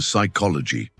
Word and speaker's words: psychology: Or the P in psychology?